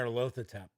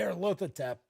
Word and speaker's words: Nyarlathotep: massenet are loath attempt there's that's how I pronounce a Nyarlathotep I've heard some other pronunciations but I always heard it's what I think some people call save and that'll hotep something like that I always heard they are local attempt I'm sticking with it just like we always